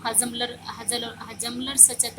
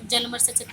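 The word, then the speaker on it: Hjalmar Schacht: बेटा इसको प्रोनाउंसिएशन देखना, कोई तो इसको हजमलर सचत बोलता है, सचत, कोई एच है, कोई एच इसको साइलेंट बोल दिया जाता है, तो जलमर सचत बोला जाता है।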